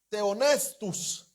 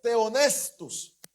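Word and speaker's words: θεόπνευστος: Es la palabra griega que se pronunciaba teonestus. Oiga esto. Teonestus.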